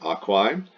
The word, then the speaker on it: aquae: This is the genitive singular, goes in that blank, aquae. Chop off the A-E pronounced I and you get the stem aqua.